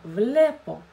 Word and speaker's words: βλέπω: А ударение, когда падает на основу слова, «влепо», «насе влепо», «влепо», «о» у нас безударное.